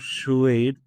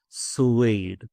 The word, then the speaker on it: suede: Little clearer um on the pronunciation of the word puade. Not shuade. Suede. Persuade. Right. Ah that's right. That's the right way to pronounce that word.